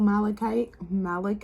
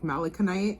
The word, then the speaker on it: malachite: For those of you who chose group number 2 with my beautiful malachite, I said it right this time because it was like malaconite last time.